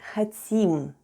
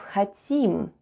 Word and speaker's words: хотим: And all together we have "хотим," with the stress on the last syllable.